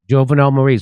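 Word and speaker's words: Jovenel Moïse: Jovenel Moise. Jovenel Moise.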